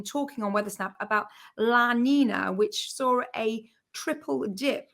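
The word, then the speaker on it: La Niña: with it some impact can I can I correct your pronunciation there because I've got GCSE Spanish it's just that you need the near is a little thing on it so do you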